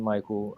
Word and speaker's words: Mikael: facebook but yeah michael um and it's michael with a k2 so i know a lot of people they don't know how to well they see the case pronounce it yeah right yes